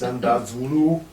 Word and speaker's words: Xandar Zulu: Okay, FUTR Tag Team Championships next is Tight Grip, which is Xandar Zulu. Xandar Zulu. You have to say it like that. Yes, because that's how he speaks.